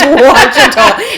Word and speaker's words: Washita: It's not Iwachuchi, is what, or Iwatichi. We went out there and I was like, no, Brittany, that is Wachita.